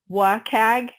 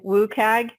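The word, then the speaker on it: WCAG: going to talk about woag this is a little bit of a tomato tomato uh discussion but some people say wag some people say woag and some people spell it out WC a they all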